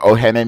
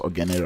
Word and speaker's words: Ohene: And I actually don't know what Ohene means. And I think it's like Ogene, but Ogene is not pronounced Ogene, right? It's actually Ohene, but whatever.